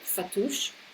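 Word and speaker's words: fattoush: Um, I think I'm mispronouncing it, but fatouche.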